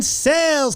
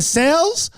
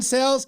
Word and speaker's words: Sales: We say his name wrong, his last name wrong. Ladies and gentlemen, I'm going have him pronounce his name right. We call him Cells.